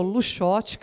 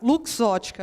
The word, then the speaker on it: Luxottica: fez uma brincadeira aí porque Lux Ótica a gente não é tão simples pronunciar a gente já escutou luxotic a luz Ótica enfim aí eu falei para Miriam Miriam separa Lux Ótica acho que é a forma mais fácil de se pronunciar bom falar um pouquinho